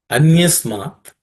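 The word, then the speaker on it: अन्यस्मात्: Anyasmat saulabham bhaktav. Anyasmat saulabham bhaktav. Anyasmat saulabham bhaktav. In terms of pronunciation, Anyasmat does not have any aspirated consonants.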